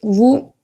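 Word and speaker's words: vous: It's vu. Yeah, it's vu. What does it mean? Uh you. Now again here, you did not pronounce the last s. You skipped it.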